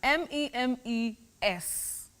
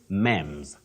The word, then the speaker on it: memes: m e s oh many people bety innocently say mems Ms no you say memes memes that is the plural form the singular form meme a meme the plural memes not memes all right